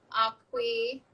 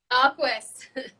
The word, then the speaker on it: Aquis: So I started using our Aqui. Is that how you say it? Awkward. Aquis.